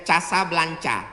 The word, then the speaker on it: Casablanca: Nama negaranya Maroko, ibu kotanya tulisannya Casablanca, cara bacanya Casablanca.